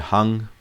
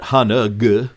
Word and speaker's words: hung: Well, what you'll notice with hung is that it is a ng sound at the end of the hung. See those two little red letters? I highlight that because this is not hanug, right?